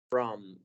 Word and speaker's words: from: Aquí no es una O del todo o un sonido O, from, sino que estamos abriendo un poco más la boca mientras decimos esta vocal para decir from. From. El sonido que hace la vocal O ahí es from.